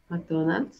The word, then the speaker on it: McDonald's: McDonald's. Mac. No hay una A, es la M-M-M-M-Mac.